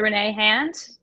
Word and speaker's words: Renee Hand: It's Renee Hand, pretty much across the board. Yep. Renee Hand. Awesome. Did I just say my own name wrong? Renee Hand. R-E-N-E-E-H-A-N-D, like the appendage.